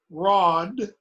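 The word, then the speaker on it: rād: stone becomes stone okay r a d pronounced rod ah odd becomes road b a in bond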